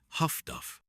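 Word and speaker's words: HF/DF: HF divided by DF high-frequency direction finding, pronounced Huff-Duff by the crews who operated it, had become one of the Allies' most potent weapons against the U-boats.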